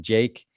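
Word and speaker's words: JVKE: The artist on TikTok, we've mentioned him on this podcast, Jake, but it's spelled with a V because the V makes an A sound now, I guess.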